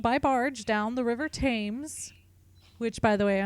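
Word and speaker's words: Thames: and he traveled by barge down the river tames which by the way I only ever learned how to pronounce that because of the show the tutors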